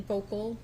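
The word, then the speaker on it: Voelkle: Can you please state your full name and spell it for the record? Vocal.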